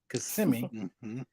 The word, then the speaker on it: Kissimmee: small interconnect company in Kissimmee Florida notice I pronounced it correctly Kissimmee and uh it was it was owned by